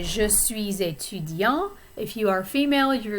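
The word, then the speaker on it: étudiant: would say je suis etudian if you are female you're you're going to say jesus and the t is pronounced at the end it's silent if you're not using the feminine form notice also that that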